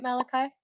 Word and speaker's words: Malachi: Malachi. Am I saying that right? Am I pronouncing your name right, Malachi? Okay, great. That looks great too.